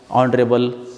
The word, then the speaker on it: honorable: Before silent words, honor, our, honest, honorable.